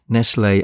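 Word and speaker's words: Nestlé: way I'm going to continue to pronounce neslay as Nestles rather than Nestle as that was how mom always pronounced it and as far as I can tell that was the way it was pronounced in Britain at the time anyway Canada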